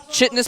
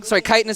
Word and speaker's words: chitinous: And it seemed very planned because he got +3 weapons, chitinous plating, chitinous plating. I used to pronounce it chitinous. A lot of people do.